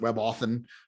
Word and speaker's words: WebAuthn: more focus lately on WebAuthn. So WebAuthn, maybe you could pronounce it WebAuthn if you wanted to kind of slur it all together.